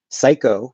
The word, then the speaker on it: psycho: focus on the sound mob has psycho has s i ko or s i k okay so between the two we have a b and we have an s so you're going from a b to an s there is no p okay the p is just spelling so um just pretend